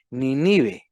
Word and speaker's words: Nínive: Nínive. Nínive, con tilde en la Nínive. primera I.